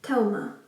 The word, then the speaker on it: Thelma: So the film which I wanted to talk about is called Thelma. I'm pronouncing it in the Norwegian way because it is a Norwegian film.